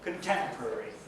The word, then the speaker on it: contemporary: And finally, contemporary. Again, second syllable stress.